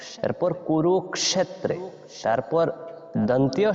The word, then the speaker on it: কুরুক্ষেত্রে: বলবো ক্ষ তারপর এজন্য আমরা বলেছি ধর্মক্ষেত্রে এরপর কুরুক্ষেত্রে তারপর দন্তীয় স যেটা এটাকে আমরা সই এইভাবে উচ্চারণ করব এস ও স যেভাবে হয় এইভাবে